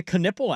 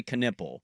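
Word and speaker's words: Knueppel: You see it and you don't say Knipple. That's how you spell it, It's really? it's a K-U-N or K-N-U, I think U-E-P-P. That makes no sense. Knipple.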